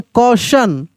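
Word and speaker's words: question: ए यू टी आई ओ एन कैसे पढ़ेंगे क्वेश्चन क्वेश्चन सी ए यू टी आई ओ एन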